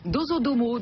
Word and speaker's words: Dozodomo: Rédacteur en chef du site web Dozodomo, c'est comme ça qu'on prononce? Absolument. Dozodomo, donc au Japon depuis 5 ans.